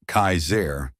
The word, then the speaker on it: Kasar: One man in particular who called himself Kasar, pronounced Kaizair, was especially dangerous.